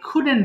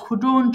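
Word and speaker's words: couldn't: যাবে এবার দেখেন আই কুডেন্ট ডু এটার উচ্চারণ ঠিক করে নিই এটাকে আমরা অনেক সময় ভুল করে কুডন্ট বলি কুডন্ট হবে না কিন্তু সিম্পলি বলবেন কুডেন্ট আই কুডেন্ট ডু আমি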